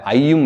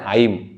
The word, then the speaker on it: ஐம்: எப்படி ஐம் முதலாக ஐயும் இல்லைங்க ஐம். சரிங்களா சோ ஐம் கிளீம் சவம் அது கரெக்ட்.